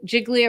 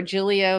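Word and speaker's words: Giglio: what Brady material is jig jigli or jilo material different people pronounce it differently uh is and Janks material is impeachment material anything that that can be used well gilio is impeachment material anything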